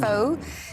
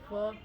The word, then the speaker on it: pho: Vietnamese pho. It only takes 10 minutes to make. It's so easy. The pronunciation is Pho, not Pho.